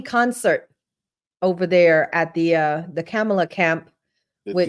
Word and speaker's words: Kamala: What's the agenda for the people that Kamala, that's how you say it, that Kamala is pushing?